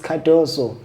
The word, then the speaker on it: Cardoso: That's why R is silent, so it's Cardoso.